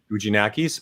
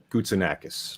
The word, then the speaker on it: Goutzinakis: And but anyway, the best part about this is that he explained two pronunciations for his name. Goutzakis. Whoa. Goutzakis or Goutzinakis.